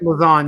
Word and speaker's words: Lauzon: Am I pronouncing that last name right? Lauzon, yep.